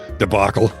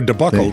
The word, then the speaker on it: debacle: Ah, so we apologize for last Saturday's debacle. Yeah. Or debuckle depending on if you can pronounce it properly or not.